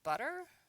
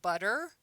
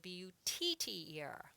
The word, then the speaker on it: butter: I also need butter. See, this is a word we say butter. B-U sounds like B-U-D-D-E-R, but it's not spelled B-U-D-D-E-R. It's spelled B-U-T-T-E-R. Most people don't say butter, they say butter.